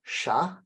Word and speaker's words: chatte: the t at all, and chat, we do hear the t, right? The spelling gives it away. T, right? T-E at the end lets us know we need to pronounce t.